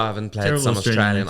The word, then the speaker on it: Australia: The key about Australians is that they don't pronounce the name of their country correctly, and that's how you get into the Australian character. You know, Australia. Australia. Yeah, Oh, so you don't say the L.